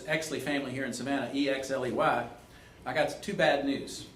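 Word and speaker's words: Oechsli: And for all you Savannians who, there's Exley family here in Savannah, E-X-L-E-Y, I got two bad news. Two things of bad news. Number one, Exley is spelled O-E-C-H-S-L-I. That's the German spelling.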